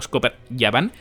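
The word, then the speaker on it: Scopper Gaban: pasa con scoper gaban que en verdad se pronuncia como scoper yban que bueno esos son mitad yoyin mitad gigantes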